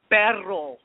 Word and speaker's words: perro: Perro. With the r.